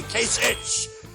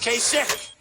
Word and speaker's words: Kasich: I don't know how you pronounce his name, Kasich. It's I-C-H. Every time I see it, I say Kasich, but it's pronounced Kasich.